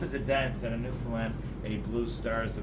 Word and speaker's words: Newfoundland: Now a scuff is a dance, and a Newfoundland, a blue star is a beer. And it's pronounced Newfoundland, not Newfoundland, not Newfoundland.